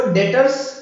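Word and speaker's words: Debtors: जो RS winters इसको लेकिन बीन साइलेंट रहता है इसलिए इसको डेटर्स पड़ा हुआ था ठीक है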